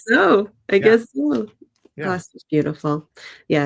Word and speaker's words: Gloucester: It's going to be Am I going to pronounce this wrong? Gloucester.